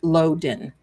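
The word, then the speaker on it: Lodan: It's it's pronounced Loen.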